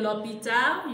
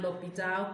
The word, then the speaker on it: l'hôpital: So you see that this L apostrophe, according to this l'église and l'hôpital, comes when it is a vowel, when the noun starts with a vowel or a H and the H is silent.